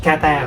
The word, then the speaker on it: 方: Yeah, so I guess the only strange thing here is that the noun, it is pronounced with kata, right?